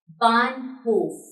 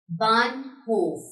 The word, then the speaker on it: Bahnhof: If H is after the vowel, like here, B-A-H-N, then A will be pronounced, any vowel would be pronounced long, like here, Bahnhof. Bahnhof.